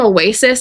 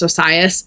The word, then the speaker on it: Osias: Some people call him Oasis. I noticed a lot in the audition was doing that. It's pronounced Osias.